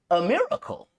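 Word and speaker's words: A'Miracle: But her name was A Miracle. And which, that doesn't sound that crazy out loud, but it's spelled A''miracle.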